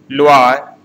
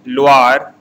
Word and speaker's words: Loire: Champagne, here G word is silent, Champagne, Champagne, Alsace, Loire, OI is pronounced as Va, Loire, Burgundy, Bordeaux, Côte du Rhône, Languedoc, and Provence.